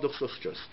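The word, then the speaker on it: דוכסוסטוס: It doesn't take that much time to practice that word and pronounce it correctly. Duchsostrus.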